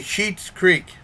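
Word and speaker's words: Schitt's Creek: I'm going to say Sheets Creek, but it's spelled like the swear word, and the spelling is SCHITT-S Creek.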